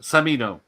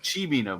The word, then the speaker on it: Cimino: I thought it was Samino. See? Simino. Yeah. Simino. See? Exactly. What is it? Yeah. Pacino. Bikini. Pacino. Yeah. And on that bombshell, I'm going to bed. It's pronounced Chimino, Michael Myers.